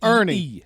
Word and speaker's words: Erne: Ernie. Yeah, It's named after his uncle Ernie. Amph Ernie.